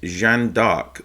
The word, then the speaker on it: Jeanne d'Arc: game and it is Jan dark so that is the French pronunciation for Joan of Arc so Joan of Arc